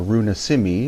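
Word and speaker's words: Runa Simi: the Inca Quechua word or Runa Simmi it's the proper pronunciation of the Lang or name of the language and it means moon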